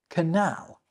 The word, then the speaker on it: canal: So let's help readers out by pointing out that one is pronounced channel and the other one is pronounced canal.